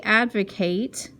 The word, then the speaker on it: advocate: speak in favor of they advocate and you pronounce that Kate when it's a verb they advocate using computers in the